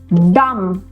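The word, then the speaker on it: dumb: so again B is silent all right Liam silent B डम डम मतलब कि यू नो कोई भी व्यक्ति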